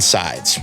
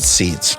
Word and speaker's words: SEIDS: with our good friend sides no it's not pronounced seeds we found her posting